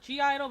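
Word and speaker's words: (G)I-DLE: G-Idol, but it's pronounced like Idol, but it's like spelled G-Idol.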